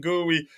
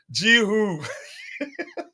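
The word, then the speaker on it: Guiu: You get a yellow card for pronouncing gooey as though it's a piece of it's Jihu.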